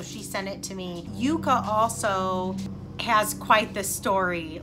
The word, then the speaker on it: Yuka: I think it's Yuka, Y-U-K-A. I don't think it would be Yucca. I think it would be pronounced Yuka.